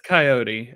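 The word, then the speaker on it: Kioti: Kyoti? I don't even know how to pronounce it. Coyote? K-I-O-T-I. Is it Coyote? Yeah, that's Coyote.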